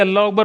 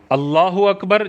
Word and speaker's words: اللہ اکبر: بہت زیادہ ضروری ہے۔ اللہ اکبر جیسے ہم نے پہلے پڑھا تھا، اللہ پہ زبر پڑھنی ہے، کھڑا زبر نہیں ہونا چاہیے، اکبر پہ زبر پڑھنی